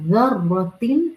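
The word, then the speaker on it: ذرة: ये ज़र्रा, फमन यअमल मिस्काल ज़र्रतिन, ये ज़र्रा ज़ा की नरमी के साथ अदा किया जाता है। When you will pronounce this ज़ाल, तो आपकी टिप ऑफ the tongue will come slightly outside from front teeth incisor से।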